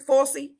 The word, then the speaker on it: Fauci: That's how you say his name, Fauci. Who is that? A judge? No, it was the one that came out with the when the Dr. Fauci, yeah. Fauci.